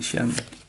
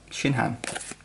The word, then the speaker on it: Shinhan: Multiform Tien Shen. I mispronounced that. Shinhan.